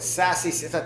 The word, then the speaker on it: Sassy: So Sassy. Tell us about that. All right. So Sassy Sales Management, spelled like SaaS, the software stuff.